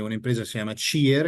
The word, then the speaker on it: CIR: empresa que se llama chier en italiano en español pronunci cier c i r compañía italiana de